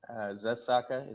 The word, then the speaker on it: Zusaka: Zusaka is the correct way to pronounce the company.